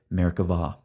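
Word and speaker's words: Merkavah: see by the way Hebrew grammar requires pronouncing the B as a V so we say Merkava we're going to approach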